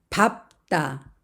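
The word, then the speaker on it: 밟다: 겹받침 리을 비을 보겠습니다 밥다 밥다 여기에서는 뒤에 있는 비읍 받침이 소리가납니다 그래서 밥다 밥다 그리고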